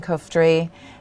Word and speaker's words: Coughtrie: bringing you live today we have ms kirsten koftery the founder and ceo at gayer learning welcome